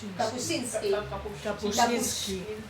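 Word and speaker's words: Kapuściński: contases un poco porque tú escribiste mucho sobre Kapucinski, es que no sé cómo se pronuncia. Kapuchinski.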